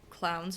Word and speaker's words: clown: You know how we say clowns in French? It's still spelled the same way as in English. We pronounce it clown. There's something stupid about that. Clown. I don't know why it's pronounced like that.